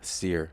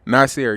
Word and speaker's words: Nasir: you say your name it's not Seer Nasir you're